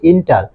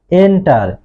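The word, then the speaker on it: enter: আমরা কিন্তু সচরাচর সবাই এটাকে বলি ইন্টার, আসলে এটা ইন্টার হবে না, এটা হবে এন্টার।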